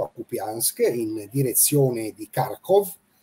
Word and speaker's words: Kharkov: Kupiansk, in direzione di Kharkov. Il primo che dice Kharkiv lo prendo a calci perché si dice Kharkov in russo.